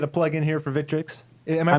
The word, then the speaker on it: Victrix: I'll let you get a plug in here for Victrix. Am I pronouncing that right? Victrix?